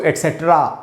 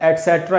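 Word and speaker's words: et cetera: ही नहीं तो इसको बोलेंगे तो सब्सक्राइब दोनों उच्चारण बोल सकते हो सकते हैं जैसे कि इसको एक्स्ट्रा नहीं बोलेंगे बोलेंगे अगर आप चाहते हैं कि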